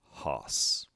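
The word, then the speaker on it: ὅς: oo and means no next we have rough breathing omicron acute accent plus sigma hoss the feminine form begins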